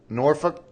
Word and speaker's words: Norfolk: were raised in Norfolk Norfolk I could never say it right I know it's spelled Norfolk but everybody says Norfolk if if you're from down there so right right but